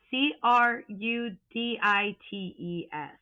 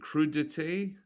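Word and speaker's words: crudités: Is it crudete? Because I think because we would have called it crudites based on how it's spelled. And that sounds like some kind of semi-precious gemstone, doesn't it? A crude. Yeah. It's a You're right. It's a crudity. Crudet. That's what it is.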